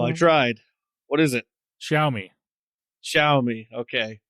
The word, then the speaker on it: Xiaomi: The Xiaomi 14 and 14 Pro. I mean, you're not horribly far off. Oh, I tried. What is it? Xiaomi. Okay. Xiaomi.